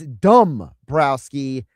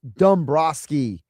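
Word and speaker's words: Dombrowski: Anonymous text chimed on text and says, "You're pronouncing the general manager's name wrong. It's Dumb Browski, not Dumb Broski. There's a W in there.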